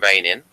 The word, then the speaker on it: Reinin: The Russians call him Reinin, and the man himself spells his name on Facebook Reinin. So he doesn't actually spell it Rei.